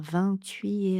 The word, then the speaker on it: vingt-huit: Pour que ça sonne vraiment français, ici, on ne va pas prononcer le T à la fin de 8.